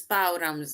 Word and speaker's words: bow: took a bow so this bow rhymed with how so we say took